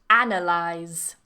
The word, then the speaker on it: analyze: now for the verb analyze analyze so now the stress moves analysis analyze that's really tricky yeah a